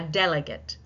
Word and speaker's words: delegate: A delegate.